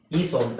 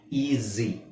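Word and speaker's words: easy: ಮಾಡೋದು ಏನು ಈ ಐ ಈ ಸ್ವಂತ ತಾನೆ ಈಸಿ ಅಂತ ಹೇಳಲ್ಲ ಈಜಿ ಈಸಿ ಅಂದ್ರೆ ಏನ ಅರ್ಥ ಈ ಜಿ ಓಕೆ ರೈಟ್ ಈ ತರ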